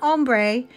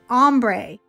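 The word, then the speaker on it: ombré: by my granddaughter cadence it is not ombre it is ombre so i've been saying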